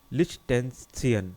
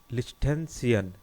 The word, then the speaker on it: Liechtenstein: Answer है Switzerland, Norway, Ireland, लिechtenstein. देखिए थोड़ा प्रोनाउंसिएशन गलत हो रहा है. लिechtenstein, LIECHTENSTEIN.